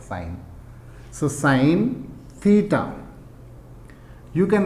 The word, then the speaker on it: sine: will use sign only I will pronounce it like sign so sine Theta you